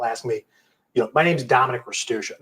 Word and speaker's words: Restuccia: I got told in high school by a teacher who was from Italy that we're pronouncing it wrong. I'm like, you know what? We're pronouncing it the American way Oh, there because we go.